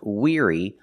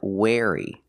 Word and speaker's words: weary: about wey that's right the word is pronounced weary not wey pronunciation weary using the long e sound like green beans together with the r ear the sound like ear Weir weary weary is a